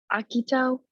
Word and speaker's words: Akito: Like the conversations between how do you Akito? Is that how you pronounce?